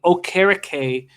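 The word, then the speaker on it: Okereke: protocol in three or four days uh bobby o'carricay we've been told that that's how to pronounce his name now had 12 tackles uh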